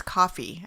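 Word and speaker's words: Ko-fi: you before we have this kofi deka i think it's coffee i think you spell it i think it's coffee it's coffee coffee. they use cup of coffee isn't it yeah thing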